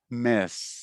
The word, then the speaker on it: miss: mess. Miss. Yes. Not Mess. miss, but miss. You got it.